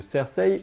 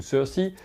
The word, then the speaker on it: Cersei: donc avec l'arrivée de cersei ou ceux ci selon qu'on prononce à la française ou à l'anglais dans la cour intérieure